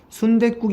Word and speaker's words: 순댓국: 많습니다 자금도 뭐가 있을까요 순대 플러스 9기 있습니다 발음 해보시면 순댓국 입니다 어디 그 소리 삼가해야 된소리 되게 됐어요